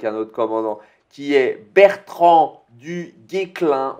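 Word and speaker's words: Bertrand du Guesclin: Donc, il va sortir avec un autre commandant qui est Bertrand du Guéclin. On ne prononce pas le S apparemment.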